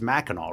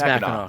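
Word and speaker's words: Mackinac: you know is it you know speaking of pronouncing things correctly is it's Meno, right? It is Meno.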